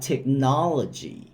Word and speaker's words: technology: สระ อี นะ ครับ ดัง นั้น พยางค์ สุด ท้าย จะ ออก เสียง ว่า จี่ จี่ รวม กัน 4 พยางค์ ครับ จะ ออก เสียง ว่า technology technology technology ประโยค ตัว อย่าง ครับ